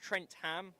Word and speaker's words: Trentham: Pronounced Trentham, always mispronounced by commentators, they say.